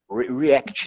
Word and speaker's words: React: E aí, assim, a gente colocou o React, as pessoas ficaram impactadas com o React, React, né? É o jeito certo de falar.